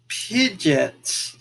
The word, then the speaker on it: Pidgeot: Pidgeot, and I do pronounce it Pidgeot.